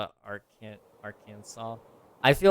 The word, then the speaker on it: Arkansas: I mean, it is spelled that way, but it ain't pronounced that way. Why not just spell it Arkansas?